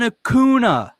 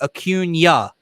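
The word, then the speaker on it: Acuña: never be better than hakuna you'll never be better than hakuna bryce harper quite clearly turns around and is explaining to him how to pronunciate his player's name akunya akunya the dude posted on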